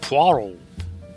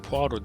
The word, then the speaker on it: Poirot: Poirot. Poirot diye yazılıyor ama Poirot diye okunuyor.